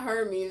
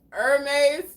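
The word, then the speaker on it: Hermès: Oh, it's not Hermes. It's pronounced Hermes.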